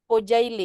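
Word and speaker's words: Kocaeli: aku lupa bilang ya ini C dalam bahasa Turki kalau ada ekor C kalau enggak ada ekor itu bacanya J Iya ada nama universitas tulisannya kocaili Tapi bacanya itu kojaili karena enggak pakai C ekor ya bacanya Ya y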